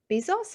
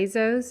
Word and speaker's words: Bezos: So it's really important, when we think of, is it Jeff Bezos? How do you pronounce his name? Jeff The leader. Bezos, I believe, Bezos.